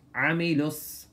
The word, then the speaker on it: عملوا: الذين آمنوا وعملوا الصالحات So pronounce the عين with harshness عملوا And صال has a